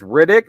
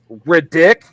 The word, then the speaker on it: Riddick: Justin, I am fairly certain you're putting the wrong emphasis on the wrong syllable on that name. His name is Riddick, not Ridic.